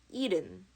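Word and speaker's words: 일흔: you spell it but you pronounce it eden eden 71 ident hana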